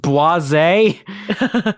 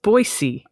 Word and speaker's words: Boise: way is it pronounced baz no it is pronounced boisey oh with a with an unvoiced S oh interesting that I